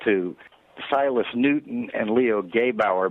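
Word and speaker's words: Gebauer: Silas Newton and Leo Gabe our by the way is how you say that I just had dinner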